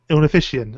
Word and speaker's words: Ornithischian: I can't pronounce that. Is it Ornithischian? Ornithischian.